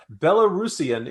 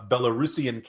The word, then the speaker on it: Belarusian: looked it up and lo and behold belarusian is to pronounce is the correct pronunciation so kudos to greg